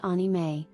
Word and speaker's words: anime: 1,500 resumes Japanese animation also known as anime pronounced onime is a popular form of animation in Japan